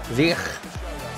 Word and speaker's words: Ziyech: Ziyech. So hopefully I'm pronouncing it 100% correct.